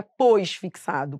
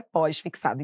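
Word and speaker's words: pós-fixada: Só que a pronúncia correta é pósfixada.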